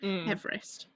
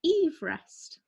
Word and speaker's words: Everest: men to adventure to everest he actually pronounced his name eve rest not everest so you know first